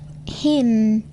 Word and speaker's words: hymn: N is not pronounced following M at the end of the word. autumn, Hymn.